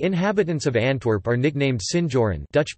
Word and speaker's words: Sinjoren: The inhabitants of Antwerp are nicknamed Sinjoren, Dutch pronunciation, Sinjoren, after the Spanish honorific seigneur or French seigneur,